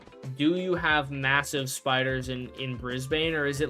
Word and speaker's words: Brisbane: Brisbane it's often pronounced Brisbane the trend is to eliminate extra vowels resulting in Brisbane it seems like it